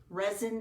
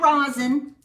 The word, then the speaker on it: resin: And The winner of our resin dots, is that how you say it? yeah, Kathy Boyer. Kathy Boyer wins the resin dots. Yes. Not rosin.